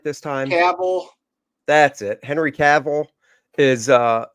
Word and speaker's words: Cavill: Cavill.